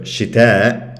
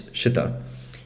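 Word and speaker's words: شتا: So not only that the final vowel is shortened because the hamza is removed, but then because of that, the stress shifts to the first syllable. So instead of shita, it's shita, and so on.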